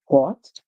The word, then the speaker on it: bought: highlighting that word because I did OUGH in the word bought, and I told you in bought we hear or. That's where the OU make the O sound and the G is silent.